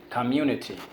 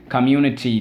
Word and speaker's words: community: Community. Notice the double consonant. If you leave it out, it's going to be community, and that doesn't make any sense.